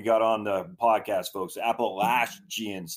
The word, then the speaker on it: Appalachian: at Appalachian State yes let me on the pronunciation before we got on the podcast folks Apple laugh jeans Appalachian everybody says it wrong everybody except me yeah